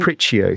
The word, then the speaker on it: Capriccio: It's called It's a big, this is when I pronounce it wrong. In the dining room. Capriccio. So it's like Capriccio.